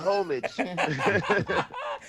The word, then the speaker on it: homage: We're all We're trying to debate on how to pronounce that word homage or homage or homage. We're you know we're from uh South Sacramento and we're like hey homie it's called homage.